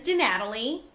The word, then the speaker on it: DiNatale: my last name is de Natalie that is the American pronunciation I think it's in Italian y'all